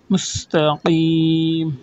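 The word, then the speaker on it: مستقيم: কফ, কফ এটা উচ্চারণ করতে হবে, কফ। মুস্তাকিম পিছনে একটা প্রেসার দিয়ে কফটা বলতে হয়, ওটা একটু প্র্যাকটিস করবেন।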